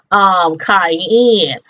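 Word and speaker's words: Kayanne: get his girl back, Cayenne. And I don't know why, it's funny. Her name is spelled, I think it's K-A-Y-A-N-N-E. But when I was taking down my notes, I spelled it like the seasoning.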